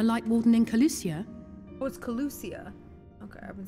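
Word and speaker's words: Kholusia: track down the light warden in colusia was colusia okay I've been saying it wrong sadly I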